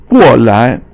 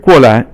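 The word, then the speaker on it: 过来: The next one is 过来 So 过 is fourth tone, and 来 is 轻声. So you don't really pronounce it as second tone. Normally 来 is second tone, but here 过来 is the 来 is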